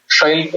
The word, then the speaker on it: Shailpik: Shailpik. So Shailpik versus Shailpik. yeah, Shailpik. yeah. So the sh is still Yeah, there.